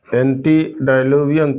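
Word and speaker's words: antediluvian: इसमें देखिएगा spelling ANTE है, एंटी नहीं, एंटेडाइलूवियन, DILUVIAN, एंटेडाइलूवियन।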